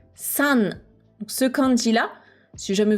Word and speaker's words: 三: Donc le titre ici, je l'ai prononcé San.